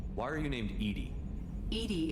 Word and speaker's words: EDI: are you named Ed Ed is the phonetic pronunciation of Eed that is an acronym for enhanced defense intelligence what do you do